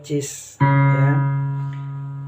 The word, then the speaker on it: cis: cis nah ini dia atau C kres dibaca cis ini kalau dimainkan kalau